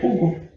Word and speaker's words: Hugo: Les doy una pista, por ejemplo, el nombre Hugo en español tiene 4 letras, pero la H no se pronuncia. Entonces, nosotros nunca ponemos ninguna H ahí. El nombre Hugo en ruso se escribe con 3 letras solamente.